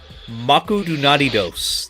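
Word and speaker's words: マクドナルド: They say Maku Dunados. That's how they say McDonald's.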